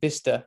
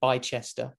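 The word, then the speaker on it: Bicester: of Motorsport Valley so bista City Center where I live well you guys are probably call it B Chester because that's how it's kind of spell it's weird British British pronunciations don't get me started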